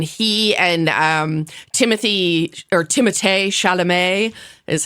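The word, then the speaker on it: Timothée Chalamet: host have been he and um Timothy or Timo shalam is how is the appropriate way to pronounce his name um who like my my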